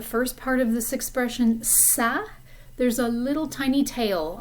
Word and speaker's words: ça: And that basically means that that letter should be pronounced like a S, almost like an S sound.